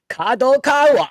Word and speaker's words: Kadokawa: issued a recommendation to the major Publishing Company Kad Kawa I said it right that time and its